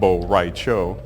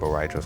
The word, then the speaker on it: Rai Cho: The Spanish word for drunk is borracho, and figured that word kind of broke itself up nicely into 3 Asian-sounding kind of syllables. So Rai Cho equals borracho, and hopefully some of you guys got that.